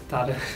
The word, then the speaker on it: Tara: Tara, how do you say it? Tara.